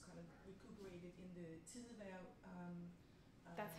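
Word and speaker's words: Tidehverv: And you make the argument that Kierkegaard, you make the argument that Kierkegaard was kind of recuperated in the Tidevær.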